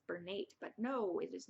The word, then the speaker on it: Bernat: softy baby white Bernette I think I said bernate before I always call it bernate and I I'm 100% that's wrong it's Bernat I don't know maybe